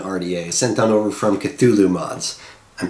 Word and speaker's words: Cthulhu: And we're going to throw it all into the Shuriken RDA, sent on over from Cthulhu Mods. I'm pronouncing it right this time, so...